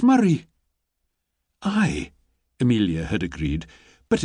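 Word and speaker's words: Moray: She'd copied down the letters carefully, M-O-R-A-Y, and she'd frowned. "But that's not how it's said at all," she'd pointed out. "It's Murray."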